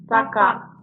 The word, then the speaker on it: Saka: It's not Saka. So it's a K instead of an H.